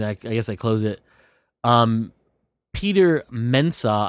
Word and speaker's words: Peter Mensah: Peter Mensah, I believe is how you say his name.